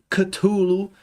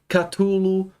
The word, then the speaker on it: Cthulhu: Apparently nobody knows how to pronounce this word. There are many people who think they do, but even according to Mr. Lovecraft himself, nobody knows how to pronounce it. So any pronunciation that you do is correct, because it's such an